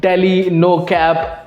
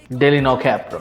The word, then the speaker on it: DL9CAP: और नवा ट्रैक है डील 9 कैप मतलब डेली नो कैप I guess उसको इसी